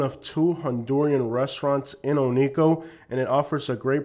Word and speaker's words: Oneco: and by the way many people call it one Co because originally it was called one company however today most people pronounce it Ono the pronunciation of one Co still exists and